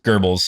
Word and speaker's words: Goebbels: Goebbels is how you pronounce it.